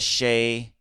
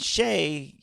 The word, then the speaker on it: Shai: I called him Shy a few times.